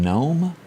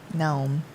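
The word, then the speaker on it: Noem: we hate to see that christie do you pronounce her name gnome i think so gnome as we head to south dakota she said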